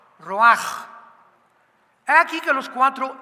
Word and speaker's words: ruach: espíritu y se pronuncia la ch en el hebreo como j. Ruaj, roaj. como J Raj Kadosh, el oroj, el Espíritu Santo, Roaj, el Kadosh, en el hebreo es Roaj.